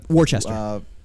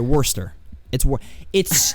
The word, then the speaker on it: Worcester: He ended up getting sent to Worcester. That word. Or sorry, Worcester. It's like okay, it's spelled like Worcester, but it's just said Worcester, I think.